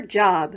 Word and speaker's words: Job: Ruth shouts 1-2-whee before going off to her job, which in the Bible is pronounced Job.